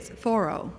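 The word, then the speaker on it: Thoreau: Often I think thorough okay, we got to get this right. Right. Thorro, we got it right now. There's thorro. We're in New England. We have to say it properly.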